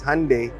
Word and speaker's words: Hyundai: question pronation hund or Hyundai actually pronunciation is Hyundai just like Sunday ah hyund just like